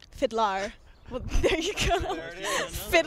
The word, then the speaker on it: FIDLAR: fans wouldn't know my name is pronounced fidlar fidlar well there you go